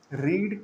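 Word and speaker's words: read: रीड का past tense रेड होता है। लेकिन दोनों का स्पेलिंग हमेशा सेम होता है।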